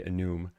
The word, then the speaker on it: enum: And I say enum here I think by default, but that's not how it's pronounced in enumeration. So some people say enume.